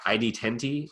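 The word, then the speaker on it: ID10T: in the bottom left I D 10 T is what Chris Hardwick's class is now called it looks like it says idiot that's what supposed to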